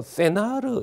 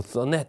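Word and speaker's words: Senart: 보통 이때가 한 1880년 정도 되는데, 1880년경에 프랑스의 종교 불교 학계를 이끌었던 분은 보통 우리 뭐 세나르 이란데, 세나르 보통 뭐 영어식 발음 뭐 써넷 이란데, 이 유명한 이 그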